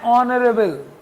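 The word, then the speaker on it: honorable: ठीक है, एन ऑनरेबल, देखो बेटा, एन ऑनरेबल, ऑन एन ऑनरेबल, एन ऑनरेबल में एच भी साइलेंट है।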